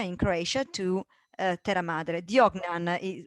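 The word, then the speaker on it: Vodnjan: Diognan would be the right Croatian pronunciation.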